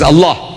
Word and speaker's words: Allah: If it's A-L-A-H, is Allah. You say Allah. I said, look, say Allah.